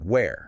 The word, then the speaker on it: where: So with where, you are pushing a lot of air. It's an aspirated sound, almost like a sigh, and the vowel is open. Where?